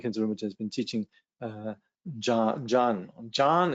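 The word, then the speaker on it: jhāna: Recently, Tsongsa Jamgön Kongtrul Lodrötaye has been teaching Jan is really how you pronounce it, but it's spelled Jana, Diana, if you like.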